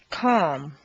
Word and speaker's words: calm: Once you've found all the L sounds, the good news is that very often you don't even have to pronounce them.